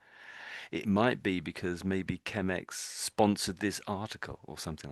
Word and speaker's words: Chemex: So it but ChemX sounds like chemicals, doesn't it? So it's not doesn't like an ideal brand name, does it? So there we go. To my ChemX.